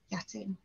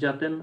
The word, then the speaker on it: Jatin: and next one is is it shooting was it yating would be the pronunciation yes um hi good morning everybody um my name is jatin uh i'm a postdoc